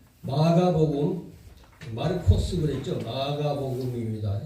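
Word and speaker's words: Μάρκος: 마가복음 마르코스 그랬죠 마가복음 있니다 예 히브리어가 원래 옛날에 저 헬라인들이 들어와 있을 때 헬라의 그 발음들이 남아 가지고 마르코스 그랬어 마르코스 우리는 마가 이렇게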